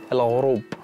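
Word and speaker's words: الغروب: Al-Ghurub. Al-Ghurub. Al-Ghurub. Al-Ghurub. Al-Ghurub. Yeah, you're pronouncing Arabic very well.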